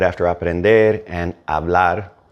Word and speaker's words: hablar: right after aprender and hablar right next to it and since H is silent it may have sounded like they kind of melded and they probably did